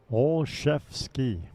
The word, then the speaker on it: Olszewski: All chefs ski. Yep. Nice hit. Nice hit. He told me to pronounce it old old jet ski.